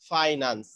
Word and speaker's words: finance: কিন্তু যখন তুমি ইংলিশে বলতেছো তখন তোমাকে বলতে হবে ফাইন্যান্স। ফাইন্যান্স। তোমরা একটু উচ্চারণটা দেখে নিও। আর তোমরা এজ এ ফাইন্যান্স স্টুডেন্ট তোমরা ফাইন্যান্সই বলবা।